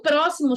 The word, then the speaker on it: próximo: Em próximo, X tem som de S.